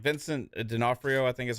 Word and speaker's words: D'Onofrio: Like, Kingpin is like Vincent D'Onofrio, I think is how you say his name.